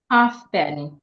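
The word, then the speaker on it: halfpenny: that So Silent F silent f is f is not not silent like that it is only silent in the word half penny so in the word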